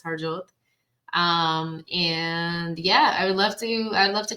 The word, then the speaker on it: Harjot: Yes, that is how you pronounce it. It's Harjot.